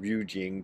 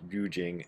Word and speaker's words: Rujing: about master tendon yojo aka tiantong rujing depending on if you're that that would be the chinese pronunciation chinese and japanese often pronounce the uh characters used in people's names different ways so that's why you find this guy referred to as yujing and sometimes as as nyojo that's uh dogan's master